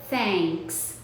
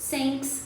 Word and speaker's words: thanks: Então, fica thanks, thanks. E uma pessoa que não tem esse conhecimento, ela vai pronunciar essa palavra de algumas formas diferentes, como eu já ouvi por aí. Por exemplo, thanks, como se fosse um som de S, ou thanks, como